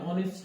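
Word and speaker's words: honest: अब आप बोलोगे साहब एच तो इसके अंदर वोवेल साउंड में आता ही नहीं है, लेकिन जो इसकी शुरुआत में अपन प्रोनाउंसिएशन करते हैं, उच्चारण करते हैं, वो ऐसा होता है प्यारे बच्चों। किसका हो रहा है? ऑनेस्ट, है ना।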